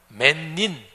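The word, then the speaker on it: Männin: 그 단어가 여성화 됩니다 그래서 남자를 뜻하는 만 여기에다가 뒤에 아을 붙여서 맨인 이렇게 발음이 되는데 말하자면 남자와 여자 없던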